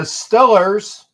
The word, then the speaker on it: Steelers: you kidding me the Steelers or let me excuse me they say correctly the stellers because that's how they pronounce it in that portion of Pennsylvania the stellars will get